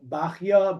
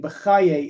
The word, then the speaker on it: Bachya: There's Bechai, Bachi, Bachya, Bachyi, Bechaye. These are all different candidates, I guess you could say, or suggestions for how to spell the name, how to pronounce the name. None of them have 100% good basis of what they're supposed to be. The common yeshivish way of saying Bechaye is probably not correct.